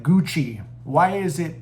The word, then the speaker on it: Gucci: something simple like like Gucci. Why is it pronounced Gucci? Because the ci makes the chi sound, you know, stuff like that.